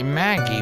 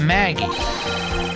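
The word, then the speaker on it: Maggey: absolutely certain true it does say Maggie but it's spelled wrong her name is Spode mheg ey9 mheg IE sure exactly yes I know that now take a look at this see mheg ey that's how it's spelled victim would not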